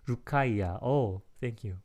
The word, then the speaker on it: Rukaiya: Rukaiya. Oh, thank you. Rukaiya. 고맙습니다. 루카이아님. Thank you for helping me to pronounce the name.